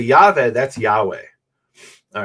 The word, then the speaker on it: Yahweh: We know it's y-va and then the last one is h which is usually silent at the end of a word. Okay, so how do we pronounce that? So the scholarly guess is that it's Yahweh and that's based on